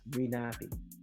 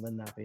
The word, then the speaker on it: Lenape: Swedes also settled in the area, and the early Swedish sources listed the Lenape as Renape, probably because they had a hard time pronouncing Lenape, no.